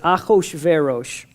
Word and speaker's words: Ahasuerus: Now, there's a king, Ahasuerus. Ahasuerus, I mean, there's a 70 ways to pronounce that, depending, but it's Ahasuerus.